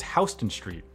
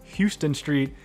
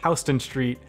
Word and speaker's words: Houston Street: correct it is not houston street it is houston street the street in new york is named after william houston while the city in texas is named after sam houston so that's uh probably